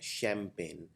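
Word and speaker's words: champagne: देखिए ये शैम, जो CH वाला साउंड है, ये शै का साउंड आता है, शैम्पेन।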